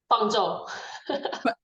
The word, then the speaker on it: Fangzhou: to Dr and I I'll get the pronunciation right Fang say your first name fzo okay thank you I'll talk to I'll tell